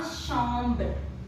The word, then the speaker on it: chambre: So we use la chambre. La chambre. In French, CH is pronounced as sh.